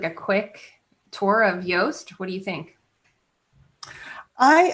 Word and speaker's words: Yoast: in sure so um yoast it is a plugin that is spelled like toast but with a y um at the front instead of a t and it's a plug-in